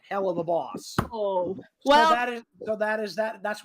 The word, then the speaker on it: Helluva Boss: wait wait wait yeah first off you're pronouncing it wrong it's hell of a boss no it's like it's like if you say hell of a really quick hell of a that's where you get the uva thing that's like hell